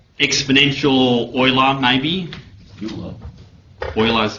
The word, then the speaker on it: Euler: Euler is how I pronounce it.